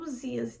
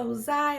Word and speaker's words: Uzá: Então, assim, quanto mais profundo em questão da morte, de Uzá, foi outro erro, gente. Eu fiquei pronunciando para vocês Uzias, tá escrito Uzá e eu fiquei falando Uzias.